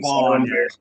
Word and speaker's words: Van: When I first heard his last name was Van, I was like, that doesn't sound very Burmese. I don't know much about Myanmar. Yeah, because it's pronounced Vaughn.